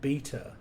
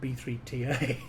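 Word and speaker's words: B3ta: interesting because uh you just said it's called beta that's how you pronounce it now you see all this time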